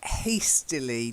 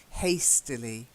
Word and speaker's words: hastily: And then hastily, just a bit more of an A sound, okay? Hastily.